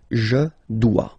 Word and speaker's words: dois: Okay, remember final S is not pronounced. Je dois. OE, when you combine the two, you get the sound wa wa wa. Je dois.